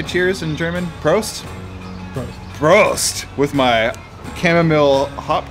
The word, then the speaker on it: Prost: see how do you say cheers in German Prost Prost with my chamomile hop tea super hipster